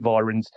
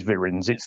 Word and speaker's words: Virens: if it's pronounced vins or vyins most people pronounce it vyins but yeah if you look it up the correct way is is vins like um a bit like vim vigger the